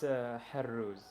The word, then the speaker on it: Haruz: He said I was pronouncing your name wrong, that it has a 7 in it. Haruz. like with a Haruz. sound.